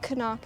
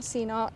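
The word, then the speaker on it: CNOC: Yeah, I said Canuck and not Seanock. Say it right, you know? Christina made me start saying Canuck.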